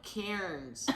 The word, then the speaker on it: Cairns: Yeah, no, cairns. It's actually pronounced Cairns. Even though they pronounce it cans.